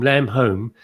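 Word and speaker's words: Lamb Holm: this weekend this week lam holm pronounced home lamb home the flying is on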